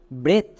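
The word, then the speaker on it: breath: একার সাউন্ড করব যেমন বি আর এর জন্য ব্রই এর জন্য বসিয়ে দাও একার তাহলে কি হয়ে গেল বইয়ের উফলা একার টি এইচ এর জন্য থো এবার একসঙ্গে উচ্চারণ করো ব্রেথ এরকম করে আমরা যদি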